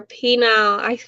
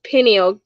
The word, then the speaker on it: pineal: water, uh keep your penile, I call it penile, but that's not how you say it, pineal gland calcified, in years